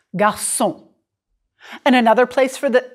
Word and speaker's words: garçon: Okay, just to clarify, here's a hard G sound. Daniel est un garçon. The G is hard.